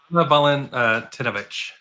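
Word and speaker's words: Anna Walentynowicz: Anna Valentinovich. That was not bad. Mm-hmm. Anna Valentinovich.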